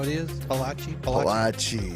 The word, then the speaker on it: Palachi: Palachi? Palachi. You gotta say it like you're in the She mafia.